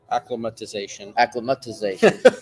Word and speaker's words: acclimatization: start of your acclimatization, something that I always get wrong, acclimatization, right? Acclimatization. They got to add the T in there. More syllables.